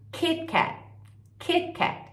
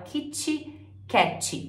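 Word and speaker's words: KitKat: vai ler em inglês keepcake então repara na pronúncia desse T como ela é muito mais Sutil do que no português a gente fala Kit Kat como se ele tivesse um i no final né Isso é interferência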